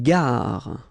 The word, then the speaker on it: gare: Une gare. Okay, remember when you get these G and A together, the sound is g, ga, ga.